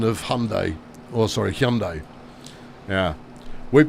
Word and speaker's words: Hyundai: It's Hyundai. Yeah, and that's how the Americans spell it. Pronounce it, rather. And we always, you know, it brings out classic British superiority to go, oh, yeah, you're pronouncing it wrong. Turns out they're pronouncing it right.